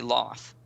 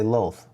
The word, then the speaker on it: Lolth: I used to say Loth. I used but- to say Lolth, but now I say Lolth. Because we have Lol, L-O-L. That's why.